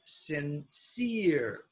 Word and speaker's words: sincere: Be sincere. You have your silent E at the end of the word. That means this is long E, sincere.